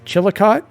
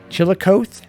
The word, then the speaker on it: Chillicothe: This I also don't know how to pronounce. Chillicothe, that's how I pronounce it. Chillicothe.